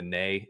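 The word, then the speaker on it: née: Is that like with the the like the maiden name and they do the nay and e? I don't know if that's how you actually pronounce that. I've just seen that before. No, that is that is how you got it.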